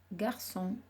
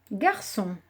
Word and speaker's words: garçon: Dans son, c'est le C cédille qui fait on. S'il y avait un C tout seul, avec le O, ça se lirait con.